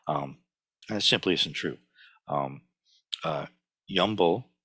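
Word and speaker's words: 염불: Yumbo, which is the Korean pronunciation of Nyanfo or Nembutsu, just means mindfulness of Buddha.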